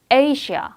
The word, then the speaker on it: Asia: 앞에 강해서 여기 A가 정확히 발음이 돼요. Asia.